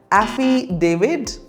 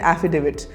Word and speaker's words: affidavit: you pronounce this word affid David well there is no David in affidavit the correct pronunciation is affidavit repeat after me affidavit